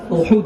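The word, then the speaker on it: أحد: احد ایک پہاڑ ہے، احد بھی آپ احد ہی کہتے ہیں لیکن صحیح اس کا تلفظ احد ہے.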